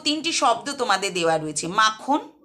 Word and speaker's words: মাখন: এগুলির প্রত্যেকটাতেই প্রথম যে দল তাতে শ্বাসাঘাত পড়ছে বা জোর বা স্ট্রেস পড়ছে।